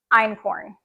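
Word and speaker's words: einkorn: I keep referring to I use almost exclusively in corn in my kitchen it is the oldest wheat yes you spell in corn is spelled e i n k r n it's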